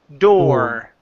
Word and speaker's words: door: Door. Okay. The front door. The front door. Good. Now the R comes out just a little bit more.